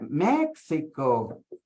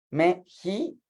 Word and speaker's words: México: Porque dicen, es el, porque esto sería México, ¿sí? Pero nosotros la X la pronunciamos Xochimilco, es con X. México suena como J, o sea, Xochimilco suena como a Z. Meji suena como a J, ¿ok?